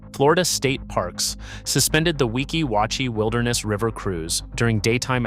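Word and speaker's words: Weeki Wachee: Say the spring name correctly. Wikiwatchi. Wikiwatchi.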